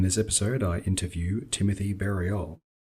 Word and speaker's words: Berriault: Berriault. Berriault. Okay, so no T? No, it's the French pronunciation, but we do with the hard B so that to differentiate it, because otherwise it'd be Ariel.